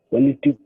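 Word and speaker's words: politique: Political. Remember the QUE is produced sound is silent. The U is silent, E is silent. Then Q produce the sound what? K. So how will you read it? Politic.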